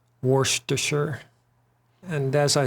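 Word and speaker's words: Worcester: Shy sauce is pronounced Worster.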